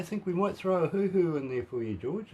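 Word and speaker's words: huhu: guys yeah i think we might throw a hoo-hoo in there for you george it's spelled h-u-h-u we'll figure it john knows all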